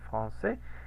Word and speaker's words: français: Entonces tenemos français, por eso suena como C, français. Y aquí tenemos la regla, ¿no? Misma regla, diptongo AI, ¿qué hacemos? ¿Cómo se pronuncia? Como E. Como una E. Y la consonante final no se pronuncia.